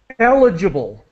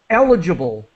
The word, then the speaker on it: eligible: pronunciation allocate alloc yeah eligible eligible uh see now uh the stress is on the first syllable eligible eligible okay yeah eligible